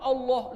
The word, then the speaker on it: Allah: Karena dalam tajwid itu ditebalkan. Itu ditebalkan pengucapan lamnya, bukan Allah. Jelas? Di dalam tajwid karena ada double lam di situ berjumpa dengan ha, maka dia lebih condong ke suara o, tapi bukan o.